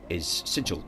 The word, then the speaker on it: sigil: But the actual word, S-I-G-I-L, is sigil, like a badge or emblem.